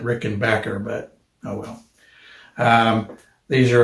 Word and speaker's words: Rickenbacker: regular rickenbackers or rickenbackers i'm sorry i'm you're gonna catch me saying it both ways i'm sure i think they pronounce it rick and backer but oh well these